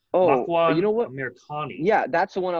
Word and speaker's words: Amirkhani: Then we have, sorry, I may pronounce this wrong. Makwan you know what? Amirkhani.